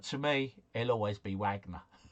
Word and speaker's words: Wagner: Uh Wagner is pronounced a vagna. Yes, simply splendor. I'm sure it is. But to me, it'll always be Wagner.